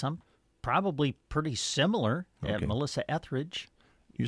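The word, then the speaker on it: Etheridge: Melissa Ethridge. You say Ethridge, but you don't use the R. Yeah, I I I guess I don't I I guess I don't emphasize the second E there.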